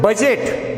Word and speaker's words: budget: In word budget, BUDGET, D is silent.